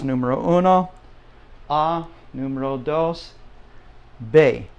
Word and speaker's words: be: Uno ah numero dos Bae now it's just like the word Bay down by the ocean the bay okay and